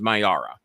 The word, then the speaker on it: Mayara: Maya, the correct pronunciation of her name is Mayara.